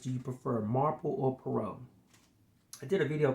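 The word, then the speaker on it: Poirot: At one point I was saying his name wrong, but it's definitely Perau.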